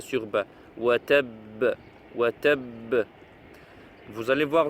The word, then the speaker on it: وتب: Tabbat yada abi lahabin wa tab. Ici à la fin du verset, vous avez shadda aussi sur ba. Si on s'arrête, il faut montrer aussi shadda sur ba. Wa tab.